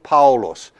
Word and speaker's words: Paulus: has the name Paul in Greek Hall Paulus and that's the way you pronounce that and and this man